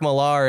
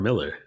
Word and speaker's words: Millar: Whoa, is that how you pronounce it? Millar? I thought it was Mark Miller. I thought it was Mark Miller too. For the longest time I did, but it's spelt Millar.